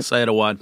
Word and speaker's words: Saad Awad: And lightweight standouts, Saad Awad. Is that how you say it? Syed Awad.